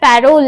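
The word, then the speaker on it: parole: পরের প্রশ্ন লাং ওপারল অনেক জায়গায় প্যারল এই উচ্চারণটাও পাবে লাং ওপারল এর প্রবক্তা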